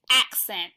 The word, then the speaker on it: accent: sound pronounce the word remember to pronounce the first C asked and the second CS this word is accent say it with me accent can you speak with